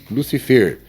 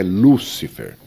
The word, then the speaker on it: Lúcifer: Lucifer. Seria assim. A palavra é oxítona. Lucifer. Certo? Não. É Lúcifer.